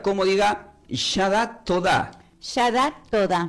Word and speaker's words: Yadah Todà: ¿Y qué significa esta palabra Yadat Todá, que se escribe Y-A, la D, la A, la H, la T, la O, la D y con acento en la A?